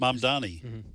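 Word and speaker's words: Mamdani: It will be catastrophic if this How do you pronounce his last name? M Donnie. M Donnie.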